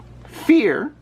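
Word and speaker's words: vier: for the number three fear yes i did pronounce that with an f because you're supposed to as my german family has told me fear is the german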